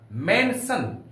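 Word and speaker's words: mansion: क्वेचन आई 10000 के अनुसार होगा यानी Russia मेंशन एम ए एन एस आई वन जहां पर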